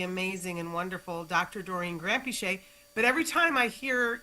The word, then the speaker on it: Granpeesheh: So when I grew up in England, we just started with Granpeesheh, and that's how you pronounce it, Granpeesheh, and like no emphasis on any part of it.